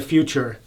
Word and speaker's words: Futur: And many people say Future or whatever, proper pronunciation. And my German friends who sprechen Sie Deutsch, they can, Doc, you could verify this. I think the correct pronunciation is Futur.